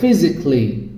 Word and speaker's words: physically: রোমান্টিকলি, লজিক্যালি, অ্যারিস্টিক্যালি or physically, critically। তার মানে আমরা কি করছি, আগে যেটাকে বলতাম ক্যালি, এখন সেটাকে বলবো ক্লি। Kelly, it should be cli, that means romantically, musically, logically, artistically, physically, critically.